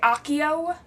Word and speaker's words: Accio: its pronunciation and know when I was reading the books in my brain I pronounced AIO and I think in the movies they say Akio but I think I have mostly changed AIO and I kind of vary between them if I'm in my